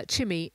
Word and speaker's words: Chimi: is called chimi uh not chime as you've seen it seem written uh chimi chimi rhymes with jimmy as jimmy hidself would